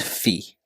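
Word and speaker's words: φ: row Theta and Fe so here this is pronounced as row this is Theta and this notation is Fe now the descriptions for each component in the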